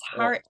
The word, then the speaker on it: Harriotte: it's if it's har everyone just calls me har there's no specific saying and I only asked my mom a few years ago I like by the way is my name meant to be pronounced different because even my whole life I've just been saying it like it's like Harriet just I just with a JY accent most people it's quite